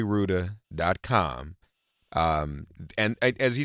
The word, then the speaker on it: Rouda: house that's right Rudin forgive me I forgot I've I've been mispronouncing your name but but Ruda calm and as he